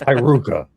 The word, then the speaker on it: Haruka: Why is everyone saying my name wrong? It's Haruka.